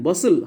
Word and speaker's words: bustle: you have to underline bustle hustle bustle t silent although g h parliament